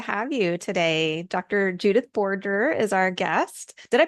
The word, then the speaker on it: Borger: Judith Borgger is our guest. Did I pronounce that right? Dr. Yes, it's Borgger.